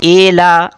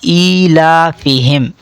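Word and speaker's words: إِيلَافِهِمْ: Number 2، اکثر لوگ ای کو اے کر کے پڑھتے ہیں جو کہ مجہول ہے. ایلا غلط ہوگا، درست تلفظ ہوگا ایلافہم.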